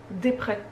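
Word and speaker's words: Despret: oiseau de Vinciane desespray Desprès à mon avis on prononce pas le le S vous savez c'est la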